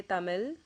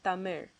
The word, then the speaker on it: Tamil: the L sound so they instead say tamil or polym or male you know I mean it's okay you can live with that but the correct way of pronouncing it is thummer another word is the